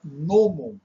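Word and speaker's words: gnômon: primavera em São Paulo veja que eu não falo gnomo gnomo é aquele anãozinho detestável né agora nomon que a gente não pronuncia o g é uma palavra grega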